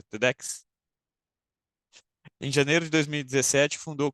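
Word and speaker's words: TEDx: tem duas apresentações tedex é assim que se pronuncia tedex em janeiro de 2017 fundou com outros dois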